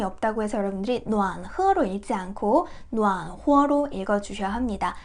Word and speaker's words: 暖和: 그래서 따뜻해 이 글자가 병음이 없다고 해서 여러분들이暖和로 읽지 않고 暖和로 읽어주셔야 합니다. 이 글자도 허와 호 발음이 있고요.